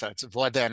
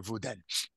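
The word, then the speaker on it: וואָס דען: And it says vos den, but no one pronounces the s. It's voden or vuden.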